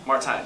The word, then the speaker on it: Martijn: Martijn, yeah.